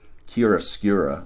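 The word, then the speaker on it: chiaroscuro: using it's a technique I think it's pronounced Kira skura modeling that means towards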